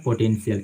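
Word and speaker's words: potential: जैसे यहाँ पे एक वर्ड है पोटेन, ठीक है, पोटेंशियल, इसको जो पढ़ते हैं सब पोटेंशियल पढ़ते हैं। ठीक है, इसका साउंड होता है पोटेंशियल। आप यहाँ पे देखिए सी का उच्चारण दे रहे हैं।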